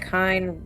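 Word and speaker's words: kine: Just remember that kind rhymes with swine and you'll get the picture.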